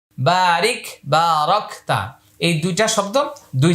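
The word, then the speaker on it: بارك: আমরা এখানে পড়েছি আল্লাহুম্মা সল্লি, এখানে পড়বো আল্লাহুম্মা বারিক। এখানে পড়েছি কামা সল্লাইতা, এখানে পড়বো কামা বারাকতা। তাহলে এইটা আমি উচ্চারণ করে দিচ্ছি, আপনারা লক্ষ্য করুন।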